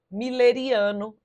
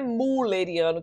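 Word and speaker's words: mülleriano: Aqui não é mulleriano que a gente lê, não. É uma palavra, se eu não me engano, alemã. Miller é o jeito de pronunciar e essa leitura ela é possível por conta do trema em cima do U. Então, apesar da abolição do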